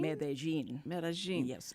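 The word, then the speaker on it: Medellín: it's mein mein mein medin there's no G or J or anything no it's an l and a double L A Double L okay and in Spanish in regular is Mexican Spanish it's medin like a like a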